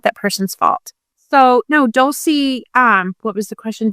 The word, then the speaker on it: Dolce: got the actual pronunciation, I was saying it all Italianike. Dolce. And now I actually wonder if when I order my cinnamon Dolce lattes at Starbucks, I'm doing it wrong.